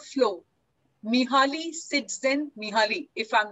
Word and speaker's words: Csikszentmihalyi: So there's a book called Flow, Mihaly Csikszentmihalyi. If I'm not mistaken, that's how the name is pronounced.